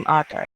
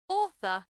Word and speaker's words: author: Author. Author. Auth- Author. Author. author, Author. author, Author. Transcription is like first letter is O. awe, Author.